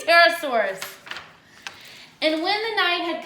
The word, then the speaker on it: Pterosaur: I said it right, Pterosaurus.